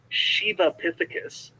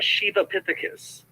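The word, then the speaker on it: Sivapithecus: in the line between shiva epithecus now it's spelled s-i-v-a but in in the sanskrit it's pronounced more of an sh so it's a shiva epithecus down to orangutans now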